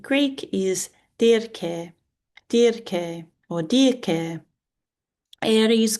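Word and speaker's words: Ares: Aries, god of war is irez.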